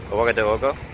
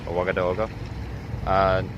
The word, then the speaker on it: Ouagadougou: Ouagadougou, I believe, is the proper way to say the capital's name. Ouagadougou.